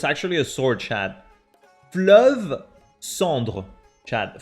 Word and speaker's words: Fleuve Cendre: Fleuve Cendre, chat. Fleuve Cendre. That's how you pronounce it.